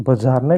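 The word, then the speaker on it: Bjarne: हालांकि इसे ब्यार्ने लिखा जाता है, लेकिन इसमें ' बी' साइलेंट रहता है।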